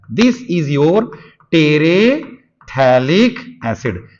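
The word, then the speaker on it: terephthalic acid: This is your टेरेथैलिक एसिड। अच्छा, थैलिक एसिड में एक बात ध्यान रखिएगा, PH साइलेंट रहेगा, ठीक है, थैलिक एसिड, टेरेथैलिक एसिड बोला जाता है इसको।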